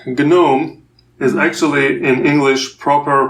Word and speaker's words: GNOME: so you know like gnome is actually in English proper pronunciation it's gnome yeah so they don't pronounce the g at the beginning but for for Gnome we we say it so this is the